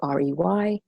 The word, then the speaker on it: Horey: It's pronounced, and then it's Horey, Horey.